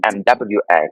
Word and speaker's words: moi: But moi usually it's spelled MOI in French, which is me. But me is Mhm. MWA, kind of different, because that's where I get my inspiration.